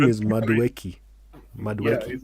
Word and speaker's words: Madueke: His name is Madueke.